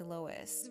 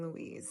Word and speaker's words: Louise: After editing this entire video, I realized that I was pronouncing Louise's name wrong. So, instead of me saying Lois, imagine I'm saying Louise.